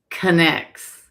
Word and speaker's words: Connex: How do you say the association's name correctly? It is Oh, Tammy go. It's Connects.